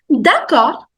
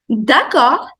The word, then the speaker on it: d'accord: D'accord. D'accord. D you don't pronounce, the last D. D'accord.